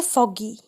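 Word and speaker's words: foggy: अगर double G हो उसके बाद Y आए तो हम उसको ग पढ़ते हैं. जैसे फॉगी या पिगी बैक.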